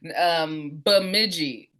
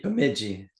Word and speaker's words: Bemidji: Which again, everybody, sorry, just I can't pronounce it, so I'm not gonna. So It's an Indian reservation, so Bemidji. Bemidji.